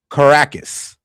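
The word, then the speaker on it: Caracas: It's pronounced Caracus. Got you set. Caracus is pronounced Caracus.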